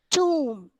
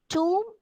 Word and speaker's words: tomb: Ein, tomb, thumb, plumber, plumber. Thus, B should not be pronounced. All these words, this B is silenced. Climb, tomb, thumb, plumber. You should not pronounce this B.